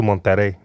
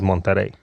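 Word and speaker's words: Monterrey: then I went to monter monter mon yeah you got to roll your RS listen listen it was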